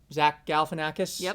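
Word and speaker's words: Zach Galifianakis: Uh, Will Ferrell, Zack Galanakis. Am I pronouncing that correctly?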